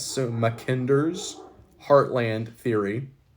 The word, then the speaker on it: Mackinder: mac n d e r apostrophe s so mckender's heartland theory it's also known as just the